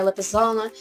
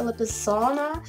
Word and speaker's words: Lipizzana: I really want to thank someone who taught me how to pronounce a Lipizzana. I really didn't know how to pronounce that word. I always just said Lipizzan, but that's wrong.